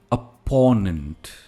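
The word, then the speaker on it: opponent: Next word, प्रतिद्वंदी, जिसे हम कहते हैं हिंदी में अपोनेंट। Again stress is इन the middle, अपोनेंट।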